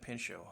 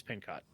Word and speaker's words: Pincock: uh Mary pincock Meyer I always pronounce that Pino I blame the other guy though yeah I I start I start to say pin and then I realize it's pin cot and and that's only